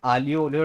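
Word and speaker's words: aglio olio: तो please restaurant आके आलियो ओलियो ट्राई मत करना गलती से भी. जो उसकी स्पेलिंग होती है एग्लियो पोग्लियो को स्पेलिंग होती है उसकी, लेकिन the pronounce it एज आलियो ओलियो.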